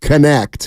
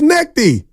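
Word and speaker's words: Knecht: from Danville I'm a Tennessee fan steiny it's pronounced connect oh man I know that Oh I thought it was necky no that's what I call him his name's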